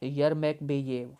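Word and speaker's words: Yermekbayev: और अभी जो सेक्रेटरी जनरल है वो है नुरलान, NURLAN, नुरलान यरमेकबेयेव। इसके स्पेलिंग ज़रा देख लें और इसकी प्रोनाउंसिएशन जो है खुद भी देख लीजिएगा। YERMEK, यरमेक, BEBAYEV। ओके, नुरलान यरमेकबेयेव।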